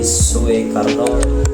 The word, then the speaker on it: Soekarno: diganti dengan huruf u seperti Soe Karno dibaca dengan dibaca Soekarno oke yang ketiga itu